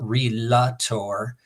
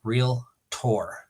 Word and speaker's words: realtor: means real property and Tor is a Latin suffix like Victor dictator orator so it's real tour not realator so you